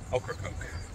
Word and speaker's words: Ocracoke: Just got to the ferry terminal, so just waiting to load the car up onto the ferry and head to Ocracoke. That's how you pronounce it.